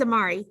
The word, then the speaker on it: Amari: me right i nodded my name's amari he rapped rhymes with atari i'm old school like